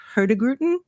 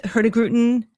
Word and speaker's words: Hurtigruten: So, Viking, um there's a another line that I'm going to murder the pronunciation, but it's um I believe Hurtigruten.